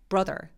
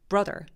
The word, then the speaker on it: brother: 다 이런 소리가나요 그래서 남동생은 브라더가 아니라 Brother Brother 되게 뾰족하고 짧은 소리가 나야 돼요 그래서 턱이 벌어지는 소리가